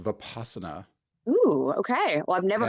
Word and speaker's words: vipassana: that Buddhist practice uh I've usually heard it pronounced vipassana ooh okay well I've never heard of it